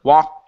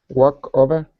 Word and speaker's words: walked: Walk over? Almost. So you're saying walk over. Oh, you're only pronouncing the K. I need a T sound. A T that's connected to the word over.